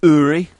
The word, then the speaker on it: Uri: His name's pronounced Uri.